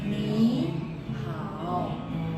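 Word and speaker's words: 你好: misalnya huruf eh sor nada t ketemu nada t maka maka depannya berubah jadi nada dua Iya dua banya tetap tiga ya jadi cara bacanya kan Mi Ha ni-ya kan harusnya tiga tapi dibaca Dua tulisannya tetap tiga-tiga jadi ni ha iya ni ha Makanya kalau kita baca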